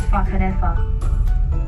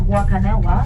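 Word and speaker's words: Whakanewha: but it's not pronounced wakanowa because in maori the wh is pronounced just like the f sound in english another cool fact about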